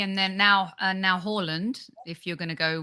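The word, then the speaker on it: Haaland: according to everybody and then now and now horland if you're going to go with the correct pronunciation i believe a loser because he missed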